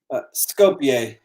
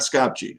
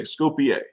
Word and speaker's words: Skopje: How do you pronounce it? Scope It's like, what is that? Skopje. Skopje. Okay, not Skopje. Okay, Skopje.